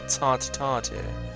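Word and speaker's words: tête-à-tête: I'm glad we could have this little tete-a-tete. How do you pronounce that?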